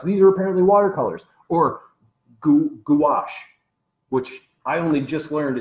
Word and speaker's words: gouache: So the style that I thought was more like cutouts, these are apparently watercolors, or gouache, which I only just learned is pronounced gouache. I thought it was pronounced gauche.